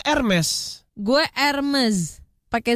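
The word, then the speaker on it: Hermès: Carrefour OK Google lima Hermes nah Hermes ini merenggut dibacanya ermes gue Elements pakai Z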